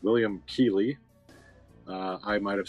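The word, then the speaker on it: Keighley: uh according to the IMDb his name is pronounced William key uh I might have said Kaye just by looking at it but apparently they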